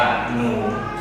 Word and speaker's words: Nous: มัน เป็น ภาษา ฝรั่งเศส ฝรั่งเศส ท่าน ออก เสียง ว่า หนู หนู เรา ไม่ ออก ตัว S แล้ว ล่ะ ความ หมาย ของ